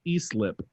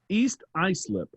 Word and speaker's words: East Islip: of the ymyw podcast your host botched the pronunciation of eastlip wait a minute only one host watched it no i didn't say it please tell joe in big al big all that it's pronounced east islip thanks keep up the great show so is